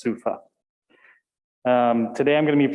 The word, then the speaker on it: SUFA: It's not SOFA, it's SUFA.